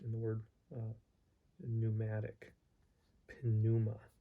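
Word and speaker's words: πνεῦμα: spirit he says remember in greek there is no silent consonants so the p is pronounced unlike in english where for example the p is not pronounced in the word uh pneumatic pinuma pinuma okay prophet voice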